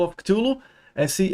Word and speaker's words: Cthulhu: Apparently nobody knows how to pronounce this word. There are many people who think they do, but even according to Mr. Lovecraft himself, nobody knows how to pronounce it. So any pronunciation that you do is correct, because it's such an